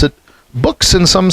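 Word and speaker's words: Buchs: I think I said buches earlier b-u-c-h-s so I've heard some people pronounce it books and some say buches and apparently his family says books so it is books there you go yeah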